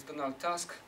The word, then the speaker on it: Donald Tusk: now in Brussels uh pronounced this Donal Tusk uh he was still